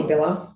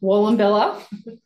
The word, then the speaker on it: Wallumbilla: Wallumbilla. Wallumbilla.